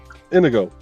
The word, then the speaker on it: Inigo: It's just indigo without the D. Yep. Indigo. Yeah. Inigo.